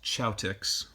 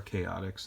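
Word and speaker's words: Chaotix: of course uh Knuckles chotic or chaotics is uh Americans say and then uh you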